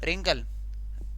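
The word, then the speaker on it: wrinkle: डब्ल्यू के बाद आर आया और ये डब्ल्यू साइलेंट हो गया और रैप बन गया। कुछ एग्जाम्पल्स और दिए गए, देखो रिंकल, रिंकल, रिंकल के बाद व्रेथ, रेत, चा, ये हो गया रेत।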